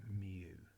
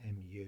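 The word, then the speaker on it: μ: all the x times the p's now we pronounce this then mu look at the way i've written it mu that's how you pronounce this and essentially you'll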